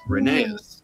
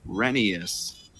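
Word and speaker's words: Rheneas: always pronounced it as reneus reneus reneus reneus reneus grenaeus in the book the correct pronunciation is rhenius kind of like phineas as said by all the original book narrators i miss very much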